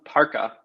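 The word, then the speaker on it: Parca: a lot easier yes it's pronounced parka um like you know cool the the guest over the jacket yeah that's awesome yeah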